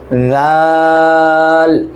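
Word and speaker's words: ذال: করে লেখা যায় না তা উচ্চারণটা কি হবে জিহ্বাটা বের করতে হবে জিহ্বাটা মুখ থেকে আংশিক বের করবেন তারপর জাল জাল এটা হবে কোনটা আগেরটাতে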